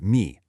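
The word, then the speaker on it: 迷: If we break down the Chinese character for delusion, pronounced mi, the text explains its etymology.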